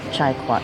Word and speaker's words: trà quất: And if you're wondering and you're Vietnamese from the US, the northern accent is different and some things are pronounced different. So it's chai kwat here.